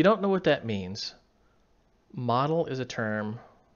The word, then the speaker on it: modal: If you don't know what that means, model is a term right there, that word, model. Some people pronounce it modal.